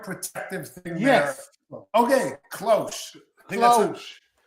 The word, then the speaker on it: cloche: So Planton says it's cloche, and it's a garden protective thing. Yes. There. Okay, cloche. Cloche. I was probably pronouncing that H a little hard, but it's okay.